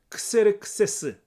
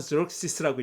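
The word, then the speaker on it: Xerxes: 근데 아하수에로는 크세르크세스, 우리는 그렇게 읽는데 영어로는 저럭시스라고 읽죠. 크세르크세스 왕의 치하에, 그 왕의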